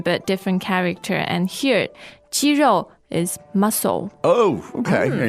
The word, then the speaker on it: 肌肉: First and fourth tone. So you're talking chicken here? No. We're not talking chicken. Exactly the same pronunciation but different character. And here, 肌肉 is muscle.